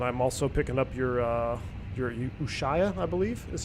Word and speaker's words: Ushuaia: And I'm also picking up your Ushuaia, I believe is how it is it's pronounced.